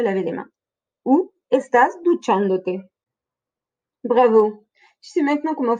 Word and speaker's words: duchándote: colle à la fin, l'accent tonique va se déplacer. Nous allons donc toujours trouver un accent à la troisième syllabe en partant de la fin.